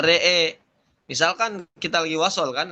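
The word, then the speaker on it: رأى: Waqfan imalah fathatur ra wal hamzah wal alif dibaca re'e.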